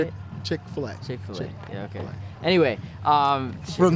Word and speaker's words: Chick-fil-A: Chick-fil-A, dude. Amazing. You say Chick-fil-A? Is that how you say it? Chick-fil-A.